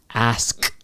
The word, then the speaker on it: asked: Now, if you say it, if you say it in a clear pronunciation, it would sound like this: asked. However, when you say it fast, you don't really, that sound doesn't come out, but you start to form it inside your mouth.